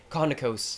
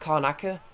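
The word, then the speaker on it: Karnaca: good dishonored I some reason call it in Kona Coast sometimes is khan is konica or is pronounced Conacher actually so pronounced konica or you can take arnica for some reason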